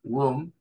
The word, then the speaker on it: womb: Esa B larga del final no se pronuncia, womb, pero uno se da